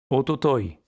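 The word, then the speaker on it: 一昨日: Ototoi, avant-hier. Attention à la prononciation irrégulière.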